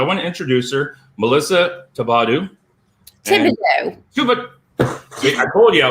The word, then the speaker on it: Thibodeaux: So I'm Melissa Thibodeaux. The H is silent.